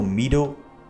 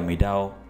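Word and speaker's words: meadow: चरागा को मैडो बोलेंगे, इसको मीडो या मीडाओ इस तरह से बिल्कुल भी प्रोनाउंस नहीं करना, इसको क्या बोलेंगे? मैडो, मैडो।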